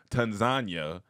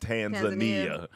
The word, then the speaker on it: Tanzania: When we went to Tanzania, Oh, they 'cause told I- us to pronounce it that way, not Tanzania.